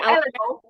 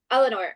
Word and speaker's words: Eleanor: How do you pronounce her name? Eleanor? Eleanor. Eleanor.